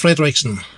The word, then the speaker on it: Frederiksen: Frederickson.